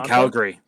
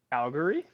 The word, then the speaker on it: Calgary: i guess okay from calgary calgary it's supposed to be calgary it's calgary i say calgary if you're i'm not free if you're from calgary you don't really pronounce the second a if you're if like